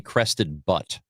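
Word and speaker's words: Crested Butte: I Are you sure it's not crested butt? It's I would really like for it to be crested butt because it's it's spelled but u t and I'm not very refined.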